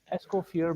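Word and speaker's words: Escoffier: recipient of the prestigious as how do you pronounce it ESCO ESCO fear medal yes thank you thank you forever because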